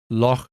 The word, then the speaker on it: Loch: In standard English accents, this gets pronounced with a K sound, loch. But we get so few chances to use guttural consonants like in English, and Scottish pronunciation happens to have one.